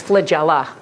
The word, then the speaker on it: flagella: got more than one its flagella think Magellan you guys know who